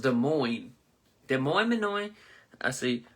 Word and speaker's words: Des Moines: So it's pronounced Des Moines.